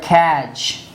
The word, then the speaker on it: catch: the word watch or we have the word catch so watch and catch these two words you see that t is used before ch that time it's not pronounced ch c it